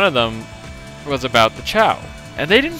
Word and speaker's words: Chao: ciao they pronounced it ko and i like i see what they're going for because like it's chaos even though it's spelled c-h-a-o-s but i was just like it's not ko it's a chow you stupid like i